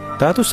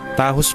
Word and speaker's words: Tahos: Tatos ako ng tatos dito. Tahos pala ang tamang bigkas diyan.